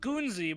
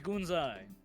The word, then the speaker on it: Gunzai: Looks like it's Good. pronounced Gunzi, but it's Gunzai.